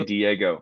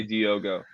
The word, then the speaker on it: Diogo: talking about you now you say Diego I say Diogo listen folks Minecraft avi's